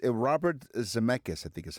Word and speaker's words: Zemeckis: I think it's Robert Zemeckis, I think is how it's Zemeckis. That's it. That's right. Here's how this is pronounced.